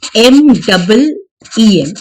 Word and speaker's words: meme: Firstly ये मीम जो है ना, इसे प्रोनाउंस किया जाता है लाइक MEEM. इसकी प्रोनाउंसिएशन ये है. You don't pronounce it as Mimi, okay, it is pronounce as मीम. हालांकि इसकी स्पेलिंग मीमी लगती है हमें, लेकिन इट is pronounced as मीम.